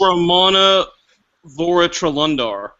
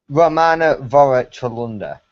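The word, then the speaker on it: Romanadvoratrelundar: You have to break it up into segments and then have it roll off the tongue. Romana Duran.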